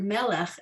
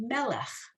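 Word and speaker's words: מלך: points to the word melech at the bottom. So you've learned 2/3 of that word now, right? We just don't have that final ch, that guttural sound at the end of the word.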